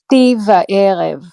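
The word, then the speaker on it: שתי וערב: Regarding the term shti ve reiv. So it's shti ve'erev.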